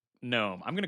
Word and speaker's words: GNOME: So I'm going to call it Gnome, but it is Gnome. Or it is intended to be GNOME, but they're open to you calling it whatever.